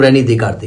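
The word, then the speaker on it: René Descartes: क्या किया जाएगा हम रनी दे काते कहते रनी देकते साहब थे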